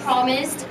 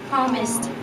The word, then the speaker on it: promised: First syllable, promised. Drop your jaw. Say promised.